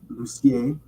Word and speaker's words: Lucier: full name, Lucier, or if you're French, it's pronounced Lucier, like Garnier or Messier.